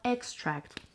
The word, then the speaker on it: extract: Vanilla extract. استرسش میاد روی سیلاب اول.